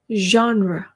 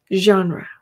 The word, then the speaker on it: genre: 영어에는 유일하게 genre라는 단어가 존재합니다. 불어에서 나온 말이고요. genre. genre. 오케이?